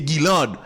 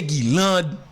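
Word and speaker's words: Guylande: Alors, l'écrit G-U-Y-L-A-N-D-E, donc, je pense le prononcer Guilande.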